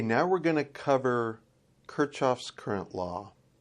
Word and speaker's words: Kirchhoff: we're going to cover kirchoff's current law some people actually pronounce it kerkoff's and I'm not sure which way is the proper way but I hear kirchoff more common than kerckhoff so Kurt kirchoff's current